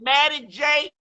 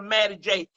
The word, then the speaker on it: Mattie J: I'm at Maddie J, MattiEJ. All of that's one word. I'm also on Facebook TV under Maddie J, MATT. The second T is silent.